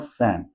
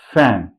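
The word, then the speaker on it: fan: इट्स नॉट फैन। इट्स फैन। आपके lips नीचे को हवा निकालेंगे। इट्स फैन। इट्स ऑफ इट्स ऑफ। है ना? हवा नीचे की तरफ आपके यहां से मुंह से निकल के ऊपर वाले लिप्स के साथ टच हो के नीचे को जाएगी।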